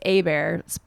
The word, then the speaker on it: Hebert: by m bear cuz their last name was AAR it's spelled like Hebert um and so uh they